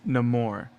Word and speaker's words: Namor: But I think this is gonna be another Namor situation. Yhwach. Yeah. Even though, guys, I just want you to know the proper pronunciation is Namor. Period. Okay. It's based on Spanish, amor, and I'm not doing that.